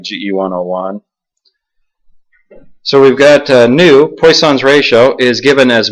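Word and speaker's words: ν: So Poisson's ratio, by definition, we use the symbol nu, N-U, pronounced N-E-W.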